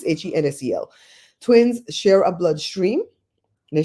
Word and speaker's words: Hensel: The Helsen, I said it wrong, Helsen. This might be wrong too. I think somebody typed that wrong. I think it's Hensel.